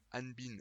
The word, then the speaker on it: Hanbin: Alors, Hanbin est acceptable, mais si vous voulez vraiment être exact, eh bien prononcez bien le H. Il suffit d'aspirer, comme un H un petit peu en anglais, c'est pas exactement le même, mais c'est très proche.